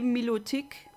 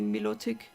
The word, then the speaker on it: Milotic: The French say Milotic, the Germans say Milotic. So I also say Milotic. It could be Milotic, just due to the way the I is pronounced in the English language.